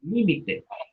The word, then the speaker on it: límite: Yo rebasé el límite. Rebasé el límite. Límite. Aguda, ya lo escuchan. Con o sin acento. Límite. No tiene acento. Esdrújula, acento en la antepenúltima sílaba.